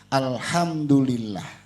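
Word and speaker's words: الْحَمْدُ لِلَّهِ: tertukar ucapan kita itu di huruf ha antara hak kecil dan hak besar contohnya Alhamdulillah karena dapat rezekinya banyak hari ini sejuta nih kemarin Alhamdulillah 100.000 hari ini sejuta jadi ngucapnya Alhamdulillah antara Alhamdulillah dan alhamdulillah itu artinya udah jauh udah berubah ke mana tahu padahal sama-sama huruf ha cuman ha kecil dan H besar ini harus diperhatiin kalau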